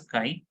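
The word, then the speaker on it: χ: looping letter but it is known as Chi you pronounce this as sky and molarity is given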